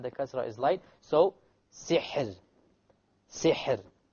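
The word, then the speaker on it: سحر: So, sihr. Sihr. Okay, so the ra is silent. Before it is silent, before it is a kasra, therefore the ra will be light.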